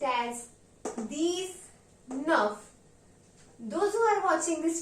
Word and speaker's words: dix-neuf: 19 will be pronounced as deez-neuf. Means deez means 10, neuf means 9. Therefore, it will be pronounced as deez-nuhf.